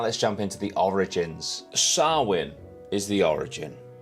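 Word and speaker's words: Samhain: nutshell and now let's jump into the origins sarwin is the origin 2 000 years ago it's actually it's it's spelled Sam Hayne but it's Celtic and it is pronounced sarwin it's an ancient Celtic Festival now in modern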